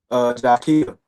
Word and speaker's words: Jaquille: Jaquille. Jaquille. Like Okay. Jaquille, like Shaquille. Yep. But with a J.